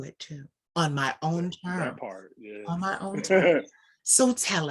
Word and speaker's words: Thyme: how to say it i said your name is pronounced time and you were like yes